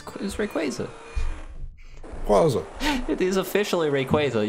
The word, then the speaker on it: Rayquaza: A fun fact: Rayquaza is one of 2 Pokemon that learn Fly by level up.